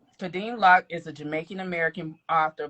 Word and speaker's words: Kadeem Locke: Kadeim Lock. That's how you pronounce it. Lock. Yes, ma'am. All right. Kadim Lock is a Jamaican American author born and raised in Jacksonville, Florida.